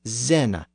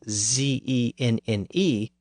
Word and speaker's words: Zenne: And in that text, the letter Z is routinely used to represent the initial Z sound in many of those southern words. So for example, sin is spelled as Zenne, Z-E-N-N-E.